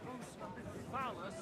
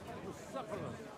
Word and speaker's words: Bucephalus: What kind of name is Bruce Phallus anyway? It's pronounced Bucephalus, which can.